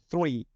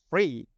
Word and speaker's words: three: Okay, uh, three, THREE. Okay, some Hong Kong students can just pronounce free, FREE. So for English teacher, we don't like it. Free is different from free.